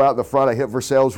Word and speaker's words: Versailles: the front I hit Versailles Road or Versailles as I kept telling everybody to pronounce the game in from